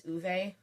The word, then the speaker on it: Ove: It's uve. It's not of. It's spelled ov but it's it's pronounced ove.